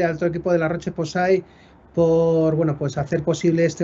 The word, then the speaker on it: La Roche-Posay: Mira, mi abuelo siempre decía que en español se escribe igual que se lee, o se lee igual que se escribe, así que podemos decir La Roche-Posay.